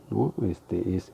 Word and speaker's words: Noe: Ahí la acentuación sigue siendo grave porque en la sílaba no, que es la penúltima, es en donde se acentúa en la o sea, Noe.